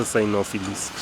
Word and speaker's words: cynophilist: me what the term was because i yeah synophilis psyonophilis am i saying it right it's a nophilist okay a definition definition is a dog enthusiast someone who really loves dogs that's a sinophilist of which i am an ex i use